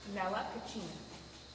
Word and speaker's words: Nella Cucina: How do you pronounce the name? Nella Cucina.